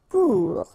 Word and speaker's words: court: Court. Final T not pronounced. Court. Remember, when you combine this O and U together, you get the sound OU.